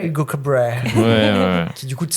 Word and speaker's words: Cabret: C'est les prénoms que j'ai un peu plus de mal parce qu'il le prononce vraiment Hugo Cabr. Hugo Cabr.